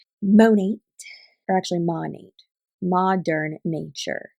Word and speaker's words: Monat: go from monat and it's not called monet my girl learn how to say the company name monat or actually money modern